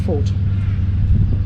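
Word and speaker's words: Foth: Tango hotel right pronounced fault so the th is silent Professor Michael Scott chairperson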